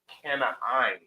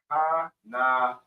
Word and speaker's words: Canaan: Canaan in the Hebrew is pronunciated or pronounced Canaan. Canaan. Canaan. Not the hard ka, but the soft ka.